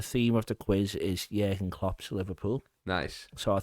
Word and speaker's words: Jürgen: Everybody calls him Jurgen, but Jurgen is actually how They say it. Yeah, like in Germany and stuff like that. I remember it when he first came. I was watching something and it was Jürgen, so I was like,